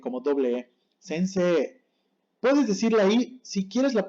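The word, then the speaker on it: 先生: suena sencillo y sin él con la i sense como doble sense puedes decirle si quieres la puedes decir pero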